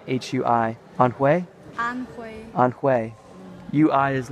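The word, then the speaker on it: Anhui: that province a n hu I hunt way on way UI is like a on way like the ethnic minority hu is way way way on play on play on play so Feng yang on way Chou mausoleum uh let's see Zhu yo you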